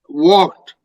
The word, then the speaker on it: walked: is walked illness also walked L is also not pronounced he is also not plural is walked and the a is not pronounced as ah but is O walked so very long or walked okay what into the